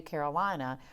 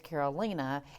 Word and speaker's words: Karolina: I want to call you Karolina, but it's Karolina, and you told me your name is Polish, right?